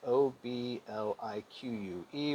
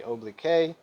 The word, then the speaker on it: oblique: right it's called oblique obl ique when i was a student i tried to say oblique but it's pronounced oblique and i guess i